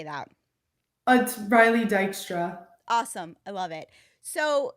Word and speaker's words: Dykstra: name how do you say that uh Riley Dykstra awesome I love it so 17 years old